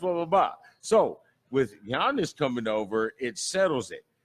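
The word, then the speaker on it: Giannis: languages so this family his name begins with the G the euro begins with a G so you pronounce his name be honest so it's the ear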